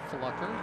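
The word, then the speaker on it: Pflucker: And his last name is Flucker. Stop laughing, Captain. How do you spell that?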